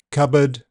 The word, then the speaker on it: cupboard: The letter P is silent in several common words. Cupboard, receipt, raspberry, psychiatric, psychology, coup, pneumonia to name a few.